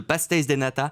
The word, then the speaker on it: pastéis de nata: Alors, je suis allé à Lisbonne il n'y a pas longtemps et j'ai un super souvenir, les pastéis de nata. Est-ce que je prononce bien ? C'est très bien.